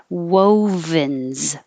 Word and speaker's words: wovens: ooh noise google doodle wovens woe is kind of lips go small big small like a fish whoa like whoa whoa and then you have to make a v so to make this